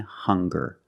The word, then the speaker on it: hunger: two words hungry and hunger they also make the same sound with the nasal sound and the hard G hunger hungry remember the